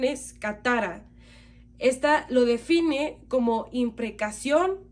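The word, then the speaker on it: κατάρα: Esta palabra es del Strong griego 2671 y su pronunciación es katara.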